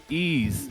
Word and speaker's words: Ys: Ease. It's pronounced ease.